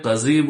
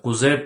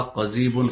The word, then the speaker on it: قضیب: جسے قضیب کہتے ہیں، قضیب بروزن فعیل، بہت سے لوگ اس کو غلط تلفظ کے ساتھ قضیب کہتے ہیں جو کہ غلط ہے۔ قاف قدیمی ضاد یا با قضیب فعیل کے وزن پر، جس کو عضو تناسل